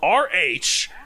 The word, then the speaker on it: Rhamphorhynchus: The only one that's phonetically there, and it's even only phonetically like phonetic PH, is the faux. So it's Rhamphorhynchus.